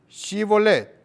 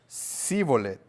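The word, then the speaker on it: Shibboleth: no Entonces le decían ahora pues di shibolet y él decía zolet porque no podían pronunciarlo correcta ente Entonces le echaban mano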